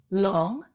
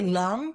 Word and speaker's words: Luong: He goes, oh, in America, they couldn't say Long. So I changed it to Luong. And I'm like, so this whole time, 27 years, literally, I've been saying my name incorrectly and correcting everybody.